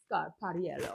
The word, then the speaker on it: Scarpariello: Scarpariello. I had to look it up to make sure I was pronouncing it perfectly, which I'm pretty sure I'm not.